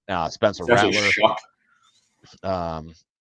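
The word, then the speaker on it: Shough: Uh, Spencer Shuck. Um, is that Tyler Shuck? Is that really? Yes, it's actually Yeah, it's actually how you say it. Chuck.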